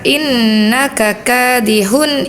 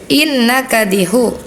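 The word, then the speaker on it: إنك كادح: Terus di ada di surah al-Insqaq ada huruf yang tidak terbaca harusnya dibaca innaka kadihun ilabika. Tadi Ananda bacanya innaka innakadiu k-nya enggak kebaca yang kedua ya.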